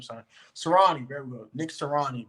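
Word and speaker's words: Sirianni: I don't want to pronounce this dude's name, son. Serrani, there we go.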